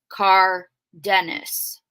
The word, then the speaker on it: Cardenas: Now I did ask her aunt how to pronounce their last name, and she said it was Cardenas.